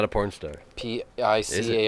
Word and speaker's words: Picard: August Picard. Everyone Google August Picard. Spell it. It's not a porn star. P-I-C-A-R-D. Yeah, like Captain Picard.